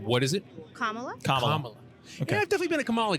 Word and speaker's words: Kamala: okay and sorry so I get the right pronunciation what is it Kamala Kamala I've definitely been a Kamala guy I've gone